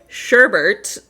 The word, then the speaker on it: sherbet: Why are we adding an R where there's not supposed like it's not supposed to be there.